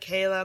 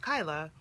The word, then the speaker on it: Kyla: people would correct her my name is Kyla and she would say like kala whatever and I would just say it's pronounced Kyla and she would get